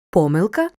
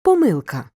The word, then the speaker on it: помилка: берегах зошита До речі як треба наголошувати слово помилка чи помилка обидва варіанти вимови правильні Але запам'ятай у множині наголошуємо помилки помилок повернімося дО оголошення Оленки